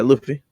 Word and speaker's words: Luffy: How do you pronounce his name? Is it Luffy? Yeah, Luffy.